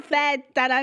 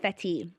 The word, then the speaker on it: feta: Oh, fetal music, guys. It's pronounced feta music, not fetti.